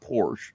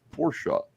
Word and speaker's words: Porsche: I have a Porsche overnight yeah it's not Porsche it's Porsche Porsche all right uh bragging about having a